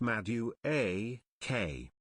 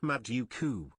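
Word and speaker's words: Madueke: Also, Nolly is pronounced Madu A K, not Maduku.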